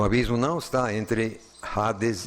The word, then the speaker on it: Hades: colocar e no novo Hades ou como o H em português não se pronuncia Nós escrevemos com H mas acabamos assim engolindo e sai Ades mas escreve com h